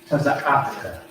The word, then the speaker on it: taza'aka: So, T-A-Z-A. A-H. T-H-K-A. Taza'aka. All right, that's how you pronounce that.